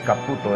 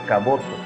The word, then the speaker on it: Caboto: No es Caputo, es Caboto. No es lo que comemos, Caputo, es diciendo Caboto.